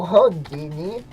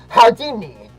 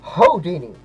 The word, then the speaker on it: Houdini: We may be performers, but you're frankly no Hini. Uh, first of all, it's pronounced Houdini. No, Hodini.